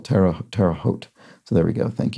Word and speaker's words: Terre Haute: I pronounced something like Tara hot uh Indiana is pronounced Terre Haute with a long o like Hotel Terra Terre Haute so there we go